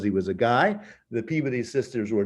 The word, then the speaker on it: Peabody: couple of unitarian women the peabody sisters peabody but they pronounce it peabody in massachusetts um become the first translators